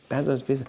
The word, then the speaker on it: Bezos: They asked him, did I pronounce his name well? Bezos. Okay, Bezos.